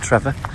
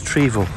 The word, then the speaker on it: Trevor: this is trevor basin please do not pronounce it trevor it is treeville trevor basin and there's